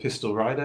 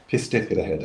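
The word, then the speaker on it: Pistyll Rhaeadr: is a place called Pistol Rider in Wales, which I've pronounced wrong. Sorry to any Welsh listeners. So we got to spell it then, so because I'm darn curious already. It's Pistich Rhehedr in Welsh. Oh, that makes it easier. Pistyll and then Rhaeadr. Pistich Rhehedr.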